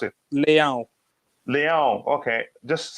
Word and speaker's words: Leão: you were the one that learned how to pronounce it leon okay just sound like a cat a bit